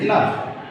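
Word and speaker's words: enough: ইনাফ, ই এন ও ইউ জি এইচ, ইনাফ।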